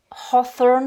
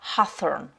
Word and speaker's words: hawthorn: L'aubépine, donc c'est soit hawthorn, soit hawthorn, selon l'accent britannique ou américain. En tout cas, on prononce bien le H et le TH.